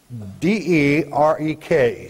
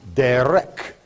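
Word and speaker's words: דֶּרֶךְ: It's D-E-R-E-K, spelled in the Hebrew. It is pronounced derek, derek.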